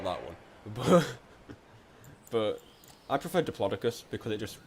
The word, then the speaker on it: Diplodocus: Like, the consensus is every way you can think of pronouncing it is correct. Is it Diplodocus? Is it Diplodocus? Is it Diplodocus? Probably not that one. But I prefer Diplodocus because it just sounds good.